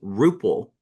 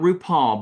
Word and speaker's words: Rupal: Her name was Rupal, not RuPaul, but Rupal. She was Indian and gorgeous, gorgeous, gorgeous. And her name was Rupal, but it was spelled like RuPaul, but it was Rupal.